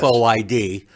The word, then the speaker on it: FOID: And we pronounce it FOID, yes. FOID.